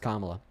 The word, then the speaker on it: Kamala: Her name mis- is pronounced Kamala.